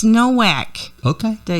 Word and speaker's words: Nowack: We are going to leave off with some John Nowak music. You say Nowak, I say Novak. It's Nowack.